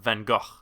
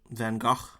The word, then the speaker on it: Van Gogh: I'm gonna go for Van Gogh. Van Gogh. Yeah, because that's how Bill Nigh-hee says it, and I trust Bill Nigh-hee.